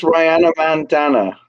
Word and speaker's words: RhinoMandana: I think it's RhinoMandana, like it rhymes with bandana.